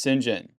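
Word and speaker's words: St John: John Smythe, the reason why it's pronounced St. John is because it kind of goes back to Norman French origin. So they would used to say like St. Clair would be Sinclair. So the sin would be saint.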